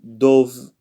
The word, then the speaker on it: dove: Again, so dove. This is pronounced dove without the e, but when you put it together, it becomes dove.